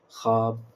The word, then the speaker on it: خواب: وہ واو جو لکھا جائے مگر نہ پڑھا نہ جائے، جیسے خواب، خواہش، خواہ، خان، دسترخوان، خواندگی، خان، اس میں پڑھنا، اس کی پہچان یہ ہے کہ اس کا تلفظ ادا نہیں کیا جائے گا۔ سمجھ گئے؟